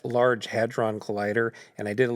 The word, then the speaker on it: Hadron: atoms yes LHC a collider yes it's uh pronounced Large Hadron Collider and I did a little bit of